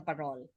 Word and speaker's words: parol: talk about the parole the Filipino um word parol uh actually uh come is an adaptation of the Spanish word farol spelled with an F but because the parole came I mean I think it started in Pampanga by somebody called Francisco estanislau so the F became p and therefore parole meaning Lantern its history